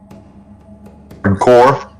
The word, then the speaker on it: Corps: That's core, dude. That it's pronounced core.